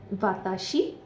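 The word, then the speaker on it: は: तरह है बट क्योंकि यहां पर यह एज अ पार्टिकल यूज होता है तो इसलिए हम इसको व बोलते हैं हां नहीं बोलते सिर्फ जब यह पार्टिकल के लिए यूज़ हो रहा हो।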